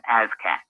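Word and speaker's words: ASCAC: It's pronounced ASCAT.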